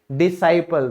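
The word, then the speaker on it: disciple: और शिष्य की इंग्लिश क्या होती है, डिसाइपल। तो एस के बाद सी है तो हम क्या कर देंगे, इसको साइलेंट कर देंगे, डिसाइपल।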